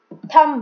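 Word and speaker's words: thumb: थम, B silent है।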